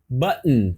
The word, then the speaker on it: button: outra palavra aí ó Button buton repete aí ó buton paradinha buton e mais uma razão porque que o t do não foi pronunciado nessa frase é porque logo depois desse T do se for uma vogal esse T pode ser omitido ou pode ser ele pode ser suavizado por exemplo want it